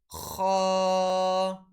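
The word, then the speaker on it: خاء: in which Ghain and Kha occur. So the word letter Ghain and Kha are originated from the top of our throat, from the part of our throat which is close to our mouth.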